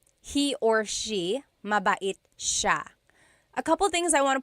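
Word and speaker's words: siya: means you are nice Ma and then ma sha he or she mait sha a couple things I want to point out about sha first is the pronunciation it looks like it should be pronounced sya CA but it's actually pronounced Sha Sha so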